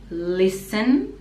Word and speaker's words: listen: the last part children again is schwa children listen again t is silent and children listen to hear sleigh bells